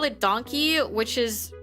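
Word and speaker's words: Donki: Um but they call it donkey which is spelled d o n k i.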